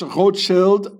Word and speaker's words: Rothschild: Uh, I used to sleep next to the the Rothschild. Also this Rothschild, I pronounce it the original German way.